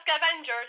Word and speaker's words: scavenge: S-C-A-V-A-N-G-E, like Angie. Yeah, scavenge, yeah. Scavenge. It's not scavengers, it's scavengers.